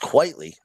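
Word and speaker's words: Quitely: I believe it's pronounced quietly.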